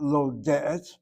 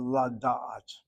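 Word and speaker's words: לדעת: And so the infinitive is not lo de'et, but la da'at.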